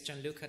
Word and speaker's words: Gianluca: So the name is Gianluca, that's how you pronounce it.